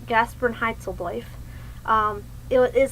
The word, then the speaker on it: Gasprenheitzeldojf: okay so the gaspan heitel affair that is pronounced gasperin heitel um it is how